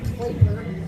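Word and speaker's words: Klaper: His last name is spelled K-L-A-P-E-R, so it looks like Clapper.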